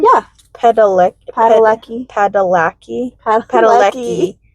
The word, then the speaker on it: Padalecki: Padalecki. Padalecki. Padalecki. Padalecki. Lecky, not lackey.